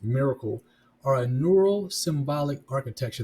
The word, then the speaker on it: MRKL: Now, MRKL systems, modular reasoning, knowledge, and language pronounced miracle, are a neural symbolic